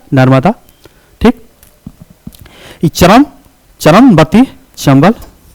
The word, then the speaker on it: नर्मदा: नर यह वदा है नर्मदा तो अभी उच्चारण नर्मदा भी बोलते लेकिन उसका उच्चारण क्या होता है नर्मदा ठीक चरम चरम बती